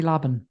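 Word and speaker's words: Laban: As as well as uh Trinity, how do you pronounce the second name in that? Trinity Lobin. Yeah. Lobin.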